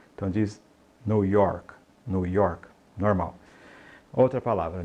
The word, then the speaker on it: New York: diga coke coke Ok nova Y não diga New York né então Note que termina em k e não coloca esse I no final então é York New York tá e você vai